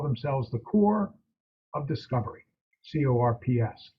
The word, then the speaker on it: Corps: They call themselves the Corps of Discovery, CORPS, the French pronunciation, the Corps of Discovery.